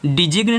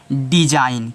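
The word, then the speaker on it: design: तो इसको पढ़ोगे क्या इसको डिजिन नहीं पढ़ोगे इसको सिर्फ आप पढ़ोगे डिजाइन क्या पढ़ हो ग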